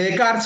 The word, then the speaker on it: Descartes: Bueno, con René Descartes, como dije, que se pronuncia así, se escribe Descartes. Me gustaría decirle Descartes porque parece que descarta, ¿no?, a los demás seres con alma.